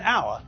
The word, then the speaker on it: hour: as the first letter we don't pronounce the first letter and so the word sounds as though it begins with a vowel it sounds as though